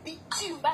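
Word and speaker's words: Bitoumba: Ceux de Kinshasa, ça s'écrit pas comme ça. C'est Bitumba, c'est Bitumba, donc c'est B-I-T-O-U.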